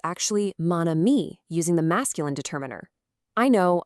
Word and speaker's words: mon ami: Because spoken French hates those clunky vowel crashes, we just borrow the masculine mon simply to create an elegant, smooth liaison, mon ami.